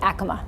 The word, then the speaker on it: Acoma: be able to acknowledge there is a different pronunciation, I think is good. 17 years I've been saying Acoma. It's going to take me 17 years to say Acoma.